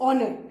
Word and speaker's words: honour: इसमें H silent है, इसको हम क्या प्रोनाउंस करेंगे बेटा? एनर. HONOUR इज ऑनर, है ना.